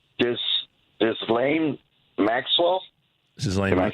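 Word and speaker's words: Ghislaine: I don't know how to pronounce her name. This Lane Maxwell.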